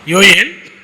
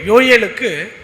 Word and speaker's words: யோயேல்: ஸோ அப்படிங்கிறப்ப நாம் Bible படிக்கும்போது கூட யோவேல் அப்படின்னு சொல்லி படிக்கக்கூடாது. எப்படி நம்ம தானியேல் அப்படின்னு படிக்கிறோமோ அதே மாதிரி பாருங்கள், நிறைய அந்த மாதிரியெல்லாம் வரும், அந்த வார்த்தைகள் வரும். அந்த மாதிரி நம்ம யோ ஏல்னு தான் என்ன பண்ணணும்னா நம்ம உச்சரிக்கணும். அதுதான் சரியான உச்சரிப்பு. வேதத்துலேயும் அப்படி தான் இருக்குது.